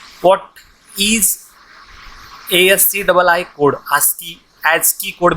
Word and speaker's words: ASCII: ASCII, ASCII code भी कहते हैं इसे, प्रोनाउंसिएशन में ASCII कहा जाता है, American standard code for information interchange.